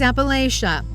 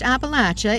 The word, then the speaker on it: Appalachia: This is Appalachia, or pronounced Appalachia if your kin live here, known for its natural beauty, its hollers, and its struggles.